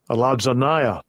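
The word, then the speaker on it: ἀλαζονεία: Strong's G 212, Aladzanaya.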